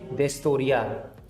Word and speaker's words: historia: mouth and this is the H is always silent in Spanish so it will never be pronounced in any combination so it always be silent ashay ashay destoria Historia means history okay now